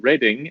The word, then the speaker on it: Reading: story about because i i learned that reading is how you say it in the uk and the reason that i know this because it's written like reading and the reason i